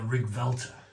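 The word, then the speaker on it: Riggwelter: 10 right onto the rig vter see the um L and the T or the t is a V when you pronounce it you pronounce it with a V I think it's a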